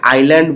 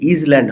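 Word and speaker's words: island: একটা বিষয় লক্ষ্য করছো, এখানে আমি এটাকে আইল্যান্ড বলছি, কিন্তু তুমি যদি বানান করো IS, ইজ, LAND, ইজল্যান্ড হয় তখন, তাই না? কিন্তু এই এসটা উচ্চারিত হবে না। কেন হবে না? কারণ এটা হলো ইংলিশে সাইলেন্ট এস, এই এসটা উচ্চারিত হবে না। সাইলেন্ট এস, এগুলো ইংরেজিতে সাইলেন্ট লেটার বলা হয়।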